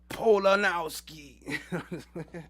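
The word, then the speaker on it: Polakowski: Pelicowski. S H A R O N P O L A K O W S K I. You got to say it like this. Polonowski.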